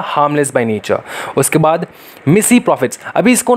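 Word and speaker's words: mesne profits: उसके बाद मिसी प्रॉफिट्स, अभी इसको ना देखो, ये जो वर्ड है मिसी या फिर मिजनी, बहुत सारे लोग इसको मिजनी कहते हैं, बहुत सारे कहते हैं इसको मिसी प्रॉफिट्स, ठीक है, तो ओरिजिनल जो इसका प्रोनाउंसिएशन है वो मिसी प्रॉफिट्स है, लेकिन भैया किसको देखना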